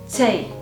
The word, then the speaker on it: Tee: Last but not least, we have Tee, which means tea. Say it like Tee, tea.